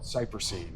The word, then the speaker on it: cypressine: Because it has the chemical, it's called cypressine inside of it. And it's kind of like, it rhymes with kerosene, you know?